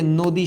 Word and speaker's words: নদী: এই অধ্বনিটার উচ্চারণ ও এর মতো হয়ে এখানে হলো নদী, এখানে হলো নদী, আর এখানে হয়ে গেল কবিতা।